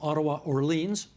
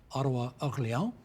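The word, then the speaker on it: Ottawa–Orléans: We're also expecting from Ottawa-Orleans, or depending on how you say it, Ottawa-Orléans, a 14th Liberal seat, because they'll surely hold that one there.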